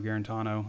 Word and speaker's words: Guarantano: get out of guarantano am i saying that right guaranto guarantano i've heard it said so many times you're saying it right and and yeah it's